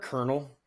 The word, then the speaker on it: colonel: The word colonel, the way it's spelled will always drive it'll drive me nuts forever. Does not sound how it looks spelled.